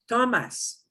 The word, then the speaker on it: tomas: Tomas. Tomas. Okay. Tomas. And we punch the O.